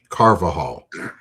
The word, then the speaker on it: Carvajal: It's uh for Laura in the chat, it's Carvajal.